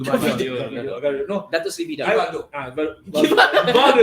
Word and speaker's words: Gvardiol: And I think when City bought Gavida, how's the pronounce his name? Gvardiol.